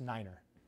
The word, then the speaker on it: nine: All right, you got six, seven, eight, and then you got nine, which is pronounced niner.